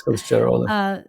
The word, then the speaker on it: Kılıçdaroğlu: a runoff election between Erdogan and, help me pronounce it, Kılıçdaroğlu. Is that right? Yes, Kılıçdaroğlu.